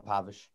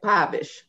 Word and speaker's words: Povich: Scott Allen Povich. Okay, Povich. All right, Mr. Povich, we're going to get it correct. It's a short O and not a long O.